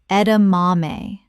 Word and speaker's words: edamame: Word 44, edamame. Common mispronunciation, edamame. Correct pronunciation, edamame. Four syllables with the stress on the third. This is Japanese.